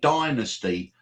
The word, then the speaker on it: Dynasty: Her most famous thing, though, was on television, though, was in Dynasty, or as the Americans say, Dynasty, as the horrible, nasty woman.